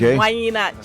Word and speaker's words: Whanyinna: Yeah, because I was going to use Oyibo pronunciation before I say Whanyinna, but it's Whanyinna Children Foundation and Makoko.